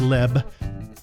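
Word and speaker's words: לב: 9 if you look up the word heart Lev it's pronounced Leb you'll see that's Hebrew all the times it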